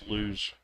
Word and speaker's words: lose: some money lose so if it's spelled with two o's it's loose if it's felt with 10 it's lose like a z sound so don't lose your